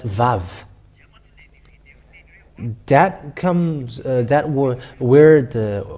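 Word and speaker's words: וו: put it with red it's VAV V A and V so when you see that we can see that it's VAV it's not wow but VAV that comes that where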